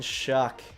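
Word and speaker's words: Shough: Tyler frickin' Shuck. It's spelled S-H-O-U-G-H. And it's pronounced like Shuck.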